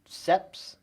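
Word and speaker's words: Seipp: uh metro who brews seps seeps seps yeah how do you say it because we've had it on the show and it's um it's it's s-e-i-p-p however you say that is sep um the conrad site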